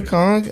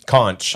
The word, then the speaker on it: conch: you and you know you can listen into a con and you hear the ocean conch okay what are you that's what poor people say poor people pronounce the h i like that it's